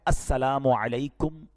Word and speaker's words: السلام علیکم: ہاں سلام کی تلفظ ہی ٹھیک نہیں ہے. السلام علیکم, السلام علیکم, یہ سلام نہیں ہے, بلکہ بعض اوقات تو اس کے میننگ ہی آؤٹ ہو جاتے ہیں. سلام کیا ہے؟